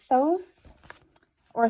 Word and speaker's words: Thoth: I'm sure whoever buys this book will love them too right that's how synchronous Works isn't it so we have the god TH or tho depending on how you like to pronounce it potato potato solder solder